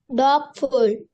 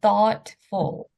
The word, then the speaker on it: thoughtful: Gibs okay this one this word thoughtful thoughtful okay so same as brought right there's a g but you don't say the g sound so thoughtful okay can everyone can